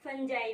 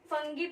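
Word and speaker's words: fungi: ठीक है बच्चों फंजा कुछ बच्चे इसे फंगी प्रोनाउंस करते हैं कु कु बच्चे से फंजा प्रोनाउंस करते हैं बच्चे क्या टीचर भी ठीक है तो आपको जैसा ठीक लगे आप इसे वैसा पढ़िए फंजी फंगी फंजा जो पढ़ना है फंगी ठीक है तो फंजा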